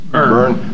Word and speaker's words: Byrne: sign the 2018 Edward Byrne, I guess that's pronounced Byrne or? Yeah, it's a Byrne.